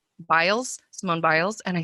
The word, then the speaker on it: Biles: the olympics and uh simone bales that how you pronounce her name and i said what else i think biles mobiles and i said